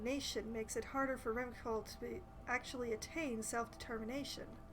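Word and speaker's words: Revachol: makes it harder for rimcall to actually attain self-determination i've been i've been pronouncing it with the with the hard syllable this whole time and apparently it's the soft and i don't know if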